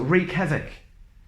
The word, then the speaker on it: wreak: first of all so wreak havoc wretched Fraggle wreckage wreckage right wrong wrath rap wreck wrestle Ragle without all without the W sound wrinkle raced Ryan Greek